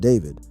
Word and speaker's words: D4vd: Before the tragedy, David, pronounced David, was one of Gen Z's most promising alt pop talents.